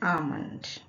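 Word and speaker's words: almond: आमंड, यहाँ भी L silent है और यहाँ एल के बाद एम है और एल के बाद अगर एम आए तो भी एल साइलेंट ही होता है, इसको पढ़ेंगे आमंड।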